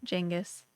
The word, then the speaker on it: Genghis: Jengis, 100%. For anyone that doesn't know, apparently the way Genghis Khan's name was actually pronounced is Jengis.